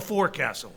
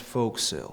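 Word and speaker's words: forecastle: uh what's that thing called the uh the for Castle it's pronounced folk sale anyway my point is the lay audience wouldn't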